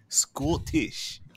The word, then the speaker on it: Scottish: Scottish. You've got to say the T.